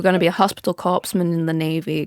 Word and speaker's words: corpsman: medical record stuff yeah you guys pronounce the the p in Corman corpsman I don't I don't do I don't like I just said it how it was right I don't know if that's actually how oh okay I just